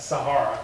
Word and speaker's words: Sahara: I mispronounced it, Sahara.